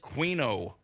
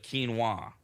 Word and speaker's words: quinoa: It Oh, a lot of Americans say quino instead of quinoa.